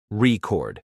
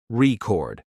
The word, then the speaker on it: record: For instance, when you say record as a noun, the stress is on the first syllable, record. But when it's a verb, the stress moves to the second syllable, record. It might feel awkward at